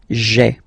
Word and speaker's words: j'ai: So just to avoid pronouncing this je ai, because we think that in French it doesn't sound that beautiful, so we tend to take this e away, okay, so that you get this sound j'ai, j'ai, okay. So j apostrophe ai. Remember, when you combine this ai, you get the e sound, okay.